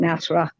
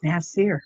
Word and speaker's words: Nasir: And for that reason, that's why this wonderful Nasir, I call him Nasra because I could never say it right. So we'd laugh. It's Nasir, Ranelle.